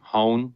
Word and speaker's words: Hoehn: Folks, his name is Hone. Rhymes with phone told me at the beginning of the interview.